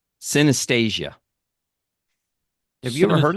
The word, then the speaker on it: synesthesia: Man, I got to pronounce this right. Synesthesia.